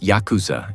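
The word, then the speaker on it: ヤクザ: The word yakuza itself comes from a losing hand in a traditional card game 893. In Japanese pronunciation, Yakuza, a useless combination worth nothing.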